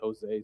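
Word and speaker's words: José: I love how you say Jose, so English. Jose. Well, you see, this is what trouble is I spend a lot of time in Portugal and we pronounce the J in Portugal.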